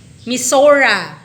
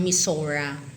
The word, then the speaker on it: Missouri: na po yan next Missouri misura sabi daw doon sa pronunciation May nagsasabi din ng misora kaya pwede din daw yan Missouri misura pwede next